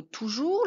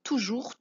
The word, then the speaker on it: toujours: peut avoir ce mot toujours. La syllabe tout, rien de particulier. Pour le jour, ça vient du mot jour, hein, la même chose que mot jour, donc c'est bien le j de jus.